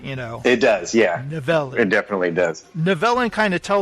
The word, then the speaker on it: Nivellen: Yeah, the beast's name is Nivellen, I believe, if I'm saying that right. He pronounced it Nivellen. Nivellen. Which is great because you're like 0 for 4 on the names, which I love. He gets that Nivellen is that's better.